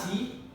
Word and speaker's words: te: The word T, it's not T, it's T. T-E. So we pronounce it as T.